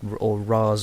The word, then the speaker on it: Ra's: a whole argument about the pronunciation of Ra's or Raz or Raish or however you want to say it. The filmmakers said Raz, so I'll go with Raz myself.